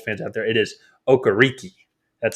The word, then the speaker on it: Okereke: No, it's he came out in a press conference and said it's Okereke. Oh well, shoot. Okay, well, never mind. People have been pronouncing it wrong for years. It's Okereke.